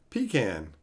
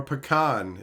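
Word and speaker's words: pecan: chocolate chip cookies kenaki what's a PE ham pie pean or pan if you prefer that pronunciation I would definitely not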